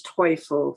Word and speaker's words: Toiful: ago her name is toiful Sister Mary Lou toifo and she would tell people my name rhymes with joyful and that was how